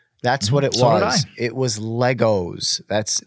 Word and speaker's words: Lego: very avid Lego yeah I do not say Legos anymore ever since then I just go Lego they say that's that's the official way to say it it's not Legos it's Lego I'm glad I'm glad